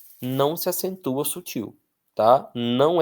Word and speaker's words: sutil: Atenção, um erro muito comum de escrita é achar que a palavra sutil, sutil é paroxítona. Tem muita gente que escreve sutil. Sútil, mas não fútil, sim, mas sutil é oxitonar.